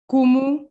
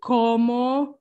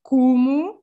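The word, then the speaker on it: como: for example so hola kumu so it's not komo or anything like that it's like kumu and then you see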